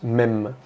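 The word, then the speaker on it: מם: En étudiant la science des langues, on remarque que la lettre M dans le langage hébreu se prononce mem, très apparenté avec le mot maïm qui signifie eau.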